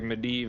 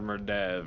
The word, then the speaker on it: Medivh: It's like Medivh or Merdev, right? There's like potato argument of how it's pronounced.